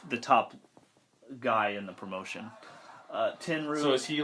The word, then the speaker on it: Tenryu: Tenryu, is that how you say it?